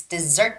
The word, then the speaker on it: dessert: when you are reading the word dessert you had the stress wrong it's dessert shop dessert and yeah the words parlor